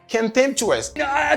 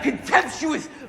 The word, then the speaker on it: contemptuous: Contemptuous. Contemptuous. M'pas dit contemptuous. M'pas dit ça non parce que stress là dans premier syllabe là. I say contemptuous.